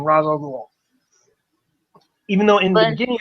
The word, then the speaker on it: Ra's al Ghul: Yeah, I know probably it's pronounced Raish or Raz or whatever, but fuck it. I'm using the movie's pronunciation, Ra's al Ghul.